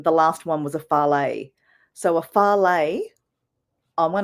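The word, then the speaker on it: fale: it a farley, and it's spelled F-A-L-E. So it could be called a fails or fal, a farley. Different people have different kind of names.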